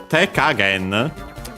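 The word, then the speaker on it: 手加減: So yeah, te kagen, which becomes accent on the ka, unsurprisingly, because again, that would be the first moral of the second word part of the compound, so again the usual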